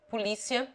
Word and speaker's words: polícia: Except the following, which take it on the antepenult: comédia, polícia, enciclopédia, geodésia, estratégia, necromância, farmácia.